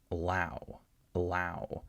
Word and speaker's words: allow: So we don't have allow, we have allow. So notice there's a tiny bit of a difference in the sense that I'm not stressing this syllable at all. I'm trying to go as fast as possible over the syllable, allow.